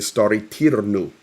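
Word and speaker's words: Staryi Terny: So where the arrow is Stary Tirnu, that's how you pronounce it, and that is where the dam was blown.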